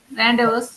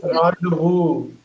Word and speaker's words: rendezvous: Rendezvous. அந்த எஸ் எல்லாம் silent தான். பாருங்க, ராண்டவு. Rendezvous.